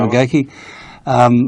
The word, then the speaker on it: McGeachie: That's how you say it, McGeachie? That's correct. McGeachie, from Townsville, who has